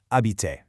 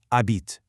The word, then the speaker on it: habite: In French, the H is silent. It is never "habite", it's "abite".